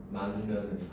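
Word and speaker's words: 맏며느리: 만며느리. 그쵸. 얘는 발음을 하면 만며느리 이렇게 발음이 되죠. 그쵸. 자, 그러니까 이것도 역시 바로 뭐야? 미음의 영향을 받아서 앞에 있는 받침인 디귿이 니은으로 변했잖아.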